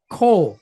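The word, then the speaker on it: כל: So we have the letter kaf, and we know it's kaf because we have the dot inside. So it's going to make that hard K sound. And then we've got this T-shaped deal underneath here, and then it's followed by a lamed. Okay. So what word do we have here? Coal.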